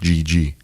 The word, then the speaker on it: Didi: Well, he's Brazilian, so even though it's DD, it's pronounced GG. Really? Yeah. He. So when we say DD, it is technically DD, but in Brazil it would be GG.